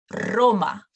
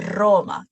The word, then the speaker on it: Roma: Por ejemplo, Roma, Rusia, República Dominicana. So you will roll it a little longer at the beginning of the words. No, Roma, Rusia, República Dominicana.